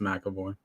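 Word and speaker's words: McAvoy: freaky James M uh mckoy is that how you say it uh was insane I'll say macavoy well there's no there's no a but I've always heard it pronounced mavo I don't know if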